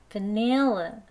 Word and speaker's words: vanilla: 강세의 위치 중요합니다. 여기 표시 두 번째 음절에 있어요. nail, nail 가장 강하게 높게 길게 발음합니다. 여기 힘 빼시고 마지막도 힘 빼는 거예요. 그러면 vanilla 이렇게 돼요.